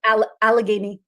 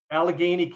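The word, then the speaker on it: Allegheny: groundbreaking study come out of Pennsylvania out of Alagany County I think it's called. It's the county in where I am. Yeah, that's all right. How do you pronounce it then? Alageney Alageney County.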